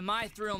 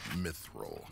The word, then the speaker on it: mithril: I don't know why they call this the my thrill mines oh god the sound it's pronounced mithril in turn now you're a Turk you're one